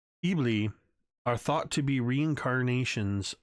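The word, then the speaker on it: Eblis: it is believed that ibless or Sue's me bleah I should say the S is silent E bleah are thought to be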